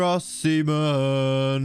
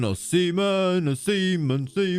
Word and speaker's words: Osimhen: Aussie man, Victor Osimhen. Osimhen. It's really hard to not say his name as Osimhen, because you're saying the word seaman a lot when you say his name sometimes.